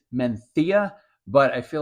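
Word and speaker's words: Mencía: grape from Northern Spain I guess technically it's menia but I feel like I sound like an idiot when I pronounce it correctly so let's go hey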